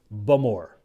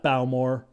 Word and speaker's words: Bowmore: within isley sits the home to today's tasting bum or and folks yes i have it on very good authority that the correct pronunciation is indeed bummer not balmor bulmore founded in 1779 it is indeed the oldest